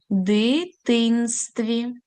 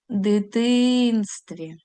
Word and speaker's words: дитинстві: Дитинстві. Наголос знову ж таки на другий склад. Дитинстві. Рухаємося далі.